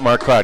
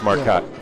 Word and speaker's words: Marcotte: That's when we started running into there's no E sound in Marcotte. It's not Marcotte, it's Marcotte Ford.